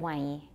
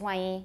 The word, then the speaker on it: 万一: And you might say 万一 instead of 万一. Right? If you're just speaking normally, it's 万一, 万一他不来的话, 万一, your tongue doesn't touch it all, no N.